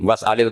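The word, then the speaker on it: وَاسْأَلْ: Bani Israil sal tako siro bani israil tapi wasalhum wasalil qah tapi Ibnu Katsir baca apa wasalhum Ibnu Katir semuanya dibaca sal wasalhum dibaca apa wasalhum wasalil qya wasalil qah jadi kita baca was'al tapi Imam Asim kalau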